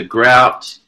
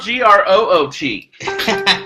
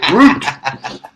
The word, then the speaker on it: Groot: and bring back the Grout mug. What Grout mug? I don't know what the crack talk. Oh, the Groot! It's spelled Groot. Groot.